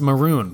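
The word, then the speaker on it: Mörön: Sadly, it's pronounced maroon, but that ruins the joke.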